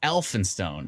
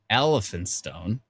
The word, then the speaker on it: Elphinstone: in stone oh no e-l-p-h is an f so elfinstone oh it's elphinstone not elephant stone you think that's